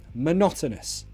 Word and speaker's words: monotonous: a bit monotonous repetitive notice the pronunciation there monotonous the stress is on not monotonous say it with me if you're alone and no one will think you're weird if they hear you monotonous monotonous lots of schwa in that word monotonous madness three